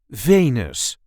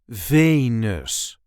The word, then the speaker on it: Venus: This is the way we say Venus. Venus. There is a light emphasis on the first syllable.